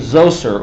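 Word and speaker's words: Djoser: and along comes a guy named zou sir oops sorry got the wrong way though sure and I believe it is spelled DJ OS er and some references okay and zou sir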